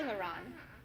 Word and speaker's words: aileron: salad course is next a LaRon rhymes with sailor John and comes from French serve the ailerons with